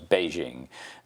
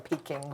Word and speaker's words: Beijing: different names we have Peking becomes Beijing because that's the proper pronunciation so it is a